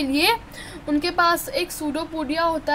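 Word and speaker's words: pseudopodia: और with no definite shape it हैज़ सूडोपोडिया. सूडोपोडिया क्या होता है? इसका स्पेलिंग है PODIA, हाँ, और इसमें P साइलेंट होता है एंड सूडोपोडिया इट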